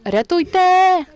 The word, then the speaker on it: рятуйте: it with the word "рятуйте," and you need to make the emphasis on the final "e." Make sure you pronounce it really fast and emphasize "e" at the end.